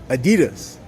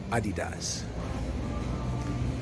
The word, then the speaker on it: Adidas: the USA she had started getting used to pronouncing it as Adidas but that the pronunciation is Adidas is a photo booth there and that's the